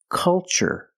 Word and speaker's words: culture: ch the first word culture and the second word cultural also remember the first syllable is a short u like cup and up uhuh make a relaxed